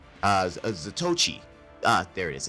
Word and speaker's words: Zatoichi: And they said the Zatowich, Zatoichi, there it is, it's the Zatoichi, I couldn't remember how they pronounced it, which is eerily familiar to Zatoichi, the blind swordsman.